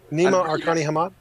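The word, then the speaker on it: Nima Arkani-Hamed: It's Nima Arkani Hamad. Arkani Hamad. I'm really bad at pronunciation.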